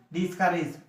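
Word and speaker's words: discourage: ডিসকারেজ হতাশা করা বা কোনো কাজ থেকে বিরত থাকা। হি ইজ ডিসকারেজ ডিস, এটার উচ্চারণ হলো কারিজ, মনে রাখবা কারিজ, ফ্রম রিডিং, পড়া থেকে তাকে কি নিরুৎসাহিত করা হলো।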